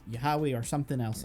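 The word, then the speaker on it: Yahweh: However, it's not how the original Hebrew would have been pronounced. It's a mis uh translation. It would have been Yahawi or uh there's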